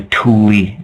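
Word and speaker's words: Thule: and the atlantans used to call themselves the Tuli uh the like T hu l e but pronounced t o o l i e that's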